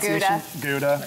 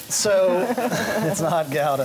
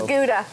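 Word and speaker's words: Gouda: oh Gala galda which is American uh called guda you know goua cheese it's not Gala so it's not GAA GA it's some good Gala though it's guda so I'm just going to take this this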